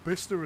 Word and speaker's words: Bicester: Okay, so We were- the UK has been involved in so many wars, it has learned to pronounce all the place names differently to the way they're spelled.